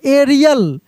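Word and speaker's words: aerial: यहां पे देखिए एरियल क्या पढ़ते हैं हम लोग? ए इ आर आई एल एरियल। उसके बाद ए के साथ यू मिले।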